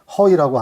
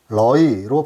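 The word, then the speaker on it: ຮ້ອຍ: 다음으로 100은 허이라고 하는데 태극식으로 러이로 발음하기도 합니다.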